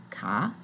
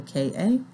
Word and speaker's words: ka: little more about the ka and the ba, which is spelled just like it sounds, the K-A and the B-A, the ka and the ba.